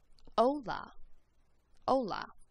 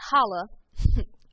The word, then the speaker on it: hola: you just ignore it the word hello in spanish is spelled h-o-l-a and it's pronounced ola ola not holla hola all right next